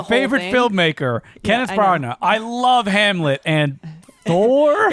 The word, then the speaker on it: Branagh: Branagh.